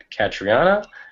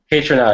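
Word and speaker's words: Kaytranada: I think you mentioned how do you pronounce it? It starts with a K. Catriona. K-Tronada? K-Tronada.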